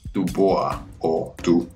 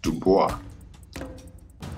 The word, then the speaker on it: Du Bois: television service was surely Dubois blue boys which is the English pronunciation it's an original French name pronounced Dubois to boys was a